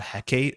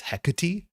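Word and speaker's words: Hecate: the same way that this is not heate, it's hecati. Like that is classically the Greek way of doing it.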